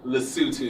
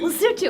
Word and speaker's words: Lesotho: Lesotho. Lesotho. I keep wanting to say Lesotho. Anyway, it's spelled Lesotho, right?